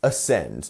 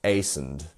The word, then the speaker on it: ascend: Right, so if you said it's the second one because we have this little thing here and then we end the word here, yes, you are correct. So it's ascend, not ascend. You see? That would be a completely different word which actually just doesn't exist.